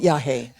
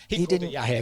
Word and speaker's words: yage: I know the drug is y, but bars typed it yage. That people, it didn't have the accent. It's this it's a kind of fetish of mine that I want to kind of insist that he wasn't he called it yahhei yahhei. Of course he did. He knew how to pronounce it.